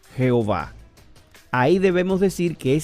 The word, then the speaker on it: Jehová: ado nay y entonces con las vocales de adonay las intercalaron en y h w h y formaron un nombre que se pudiera pronunciar como yagüe o jehova ahí debemos decir que